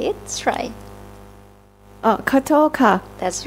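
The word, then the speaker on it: ขอโทษค่ะ: Khotot ka. That's right. Khotot ka.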